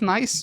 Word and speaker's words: NAIS: It's pronounced NICE, but it's written NAIS.